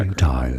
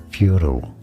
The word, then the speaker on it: futile: channel to learn more two different ways of pronouncing it in British English it is said as futile FTI stress on the first love the music in the back futile in American English however